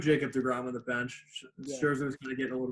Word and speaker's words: Scherzer: How you pronounce his last name? Scherzer.